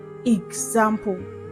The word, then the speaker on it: example: The letter X in these words takes the G sound. G. I mean the sound of letter G. So we have example.